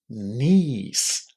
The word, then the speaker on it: niece: It's just a long e in the middle.